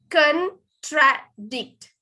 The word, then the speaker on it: contradict: ඊළඟට contradict. Con කියන එක තමයි වැඩිපුර stress වෙන්න ඕනේ. Contradict.